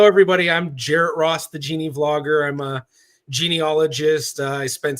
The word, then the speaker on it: Geneavlogger: Gia vlogger who uh actually you pronounce it Genie vlogger yeah I pronounce it Genie vlogger some people say Genia vlogger the idea was genealogy vlogger combin words but I just can't